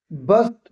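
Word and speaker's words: burst: ना उसी से है बस्ट बस्ट बस्ट फटना आर यहां पे silent almost बस्ट बस्ट बस्ट cast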